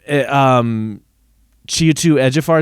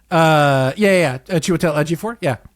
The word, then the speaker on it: Chiwetel Ejiofor: Chiwetel Ejiofor, is that how you pronounce his name? Chiwetel Ejiofor.